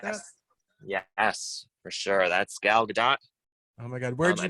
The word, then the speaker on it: Gal Gadot: You want to say Gal Gadot, but the T is actually not silent. Gal Gadot.